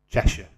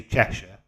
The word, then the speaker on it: Cheshire: the shack oh God I can't stand our Americans say yeah Cheshire we say Cheshire Americans say Cheshire we're not flipping from Middle Earth I'm not